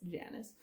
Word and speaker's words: Janus: Okay, so there's Deceit, or Janus, not Janus, Janus, because Remus would have a heyday if that's how he pronounced it.